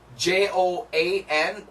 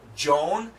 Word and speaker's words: Joan: this I don't know can you right here j o a n Joan that's a woman's name so Joan John Joan John remember that the typical pronunciation and then finally you are you're the